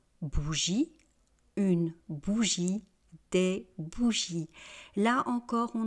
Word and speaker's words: bougie: Donc vous voyez, au singulier, je ne prononce pas le e final, je dis une bougie.